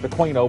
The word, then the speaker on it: Aquino: I've even heard it pronounced Aquino, but I think it's quino.